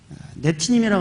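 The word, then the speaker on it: נתינים: 그래서 이제 히브리 발음으로는 네티님이라고 하는데요.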